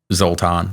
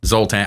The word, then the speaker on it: Zoltan: I think the Hungarian pronunciation, would be Zoltan. But you don't have the accent though. Zoltan.